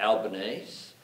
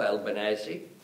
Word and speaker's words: Albanese: or ground that was as my mother pronounced it Albanese as you would know Alba nosey and I knew therefore